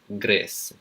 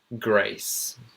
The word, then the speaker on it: Grace: Now, I've often heard this one being pronounced as Grace. Grace. But you want to pronounce it as A in received pronunciation, so it would be Grace. Grace. Ace. You got Grace and Grace.